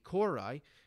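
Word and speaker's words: kouroi: There was the Kori, or Kori, I'm sure I'm mispronouncing it.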